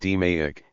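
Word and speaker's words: DMAIC: DEI pronounced DMEIK is an acronym that stands for the five steps that make up the approach.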